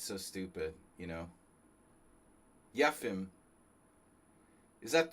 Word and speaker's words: Yefim: I mean, you know, you got to say it like a Russian. Yefim Giller.